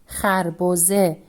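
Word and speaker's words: خربزه: Kharboze. It is a specific type of melon in Iran. And here, letter he, the isolated form of letter he, makes the sound e, and we pronounce this word kharboze.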